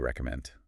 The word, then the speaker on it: recommend: Just be sure to pronounce that D in recommend and don't rush those syllables. Okay, what do you recommend?